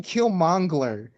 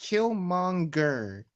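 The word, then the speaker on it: Killmonger: if you call him kill Mangler I can't there's no L after the G it's just kill monger last name I was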